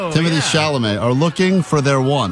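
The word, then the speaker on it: Chalamet: Thousands of users who resemble everyone from Sydney Sweeney to Timothy Charlemagne.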